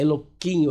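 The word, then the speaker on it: אלוהים: Elohim não é Elohim, é Eloquim. Eloquim, né? Alguma coisa que eles pronunciam diferente.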